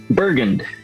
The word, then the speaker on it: Bergund: How's it supposed to be pronounced proper? Bergund.